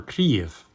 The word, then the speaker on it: Kyiv: recipe chicken kiev or cleave which is closer to the ukrainian pronunciation feel free to let